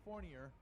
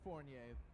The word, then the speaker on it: Fournier: As Fournier, don't call me Fournier, is up next. It's pronounced Fournier. The last R is silent.